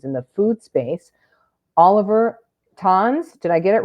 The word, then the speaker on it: Zahn: Oliver Tons, did I get it right with the German pronunciation? Oliver.